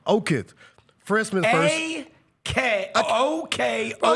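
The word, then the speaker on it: Okoth: Okith.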